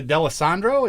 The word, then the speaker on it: D'Alessandro: very special guests today uh brett and alexa d'allesandro is that how you pronounce that yes yes all right got it